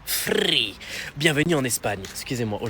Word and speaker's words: Free: Ici Free, ça se prononce free.